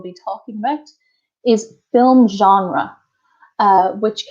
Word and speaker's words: genre: talking about is film genre which can be pronounced genre like French or genre Jeff John raah like the like they do in America hi I'm Maria from